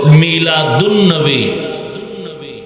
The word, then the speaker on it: মিলাদুন্নবী: করা হবে তখন হবে মিলাদুন্নবী আলিফ লাম লেখায় আসবে পড়ায় আসবে না সিরাতুন্নবী যেমন বাংলাতেও দুই